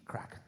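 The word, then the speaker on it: craic: But it's spelled C R A I C. Crack. If you'll see that, in fact, outside pubs, they'll say, "Come in for some good crack."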